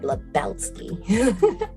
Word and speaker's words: Lebowski: Nori as Barb Lebowski you got to say her name like that barb Lebowski Jessica B Hill as